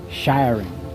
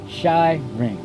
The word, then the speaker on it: shiring: The mantra is shiring. This is more of a sound than a word. Often is 2 syllables. Shy ring.